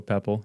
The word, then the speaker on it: Poeppel: Mm, So there you go, Poeppel. Just disregard the O and it's pretty perfect.